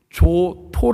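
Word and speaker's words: Giotto: 발음을 정해 차려야 됩니다 조토 라고 하는 사람이 있는데 이태리 발음은 조또 라고 합니다 그런데 이 사람이 만든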